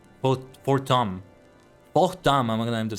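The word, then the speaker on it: Haurchefant: Forttom I'll reme I'll try to remember that it's French pronunciation here. Port for Tom.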